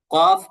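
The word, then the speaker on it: ك: এই কাফটা এটা নর্মাল, এরপরে এটা হলো কাফ, এটা নর্মালি উচ্চারণ করবে কাফ, কাফ। মনে করেন ওই যে কয়াকার কাফ, হ, কাফ।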